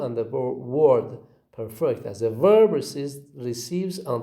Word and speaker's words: perfect: On this page, we have got two examples of the word with perfect and perfect, where the word perfect receives stress on the first syllable and the word perfect as a verb receives on the second syllable.